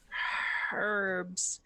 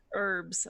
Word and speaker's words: herbs: go do that whoa the H is silent give me a nonsense it's not silent and everything I'll give you that but it isn't common herbs we just could you